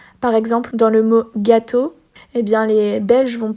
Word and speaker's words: gâteau: Par exemple, dans le mot gâteau, et bien les Belges vont plus avoir tendance à dire gâteau.